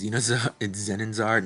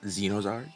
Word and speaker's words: Zenonzard: Before I realized I was pronouncing it wrong, it's Zenonzard, not Zenozard.